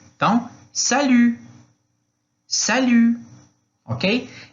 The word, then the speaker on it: salut: Então, salut, salut, ok? E o T não vai ser pronunciado aí quando está no final da frase. Da frase não, da palavra, Aí em seguida, como vai você?